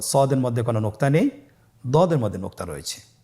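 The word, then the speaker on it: ضاد: দদ হরফটি উচ্চারণ করার সময় অবশ্যই 3 আলিফ টেনে পড়তে হবে। আপনারা আমার সাথে বলুন দদে। আবার বলুন দদে। আলহামদুলিল্লাহ, দদ হরফটিও মোটা হরফ, মোটা করে উচ্চারণ করতে হবে।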